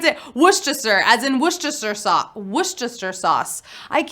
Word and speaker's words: Worcestershire: is sad it's pretty it's spelled worse Esther Shire but it's not spell it's not pronounced that way it's woosh Chester sauce we gotta move on